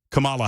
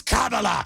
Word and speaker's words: Kamala: to defend the record of Joe Biden and Kamala Harris K CA kamla Harris pardon me I